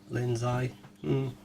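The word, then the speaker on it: Linzi: Linds eye. We We pronounce it like it's got a zed in it.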